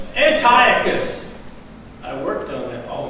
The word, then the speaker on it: Antiochus: cruel and how do you say his name Antiochus I worked on it all week Antiochus the